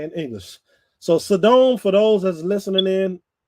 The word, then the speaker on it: Sodom: So Sodom, for those that's listening in, if you haven't figured it out yet, that is Sodom. Sodom and Gomorrah. I say Sodom.